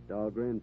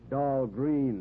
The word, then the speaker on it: Dahlgren: named them after me dog rain Proving Ground oh yeah of course they uh they mispronounce it down there dull green they say but still named after